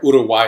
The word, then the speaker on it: Uruguay: Now this wine is a really beautiful example of what Uruguay, or Uruguay as I like to call it, correct pronunciation, is producing these days.